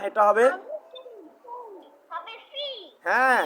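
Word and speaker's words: 七: এই উচ্চারণটা তোমাদের দুজন করে আমি দেখতেছি দুজনের উচ্চারণটা চি চি চি চি করতেছো চি চি চি না এটা হবে হবে C হ্যাঁ C ওকে এবার হয়েছে এবার হয়েছে সি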